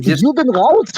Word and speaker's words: Juden raus: It's not Das Juden. Das is singular. It would be die Juden, and as for the question that Manny Karen asked, it's Juden raus.